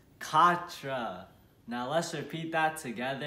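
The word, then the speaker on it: quatre: that's right four and how do we say four in french it's katra now let's repeat that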